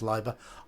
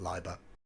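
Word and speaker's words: Leiber: okay so this is sea Magic by Fritz liba I've been told his name is pronounced liver I would always said Libra e i in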